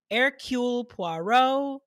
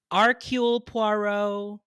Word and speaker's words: Hercule Poirot: with figuring out how to say his name air ql poirot archul poirot hercules his name's hercules it's hercules hercules boho